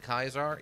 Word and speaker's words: Caesar: someone's dead interesting that this seems to be the only Caesar guy who doesn't produce pronounce it Kaiser yeah it's really weird he he was he had a weird name and he pronounced it Caesar and like it's got